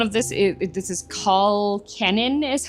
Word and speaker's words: Cennin: So, one of this is this is Kenan is how you pronounce it, but it's a potato leak soup pretty much.